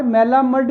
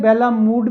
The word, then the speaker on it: Malamud: Bernard मेलामंड भी कह सकते हैं, बेलामूड भी कह सकते हैं, दोनों प्रोनाउंसिएशन इसके करेक्ट हैं।